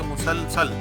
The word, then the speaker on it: مسلسل: صحرائی۔ اگلا ہے مسلسل، میم کے اوپر پیش، پھر سین کے اوپر زبر، پھر اگلے سین کے اوپر زبر، تو یہ مسلسل۔ بختر بند، بے کے